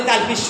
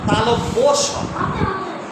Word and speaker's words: তালব্য: মধ্যন স বলি আসলে মূর্ধন্য স আমরা বলি তালবি স তালবি স তালব্য স তালব্য স তাহলে দেখো তালবি স উচ্চারণ করি তাহলে কি হয় তালব্য